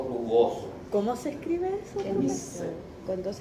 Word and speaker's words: Nissl: ¿Cómo se escribe eso? Nissl.